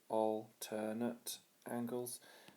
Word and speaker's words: alternate: is because they are alterate angles three syllables alternate angles so I'm going to